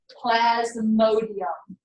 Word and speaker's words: Plasmodium: bacteria called Plasmodium Plasmodium I can say it like that because it's spelled exactly like I'm saying it Plasmodium see I really hate